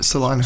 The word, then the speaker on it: Salina: Beat and I'm I'm going to butcher this because there's a city in Kansas called Salena that's spelled different. Is it Salina or Selena? Salena.